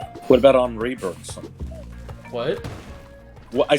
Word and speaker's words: Henri: Henri. What the fuck? E-N is pronounced en.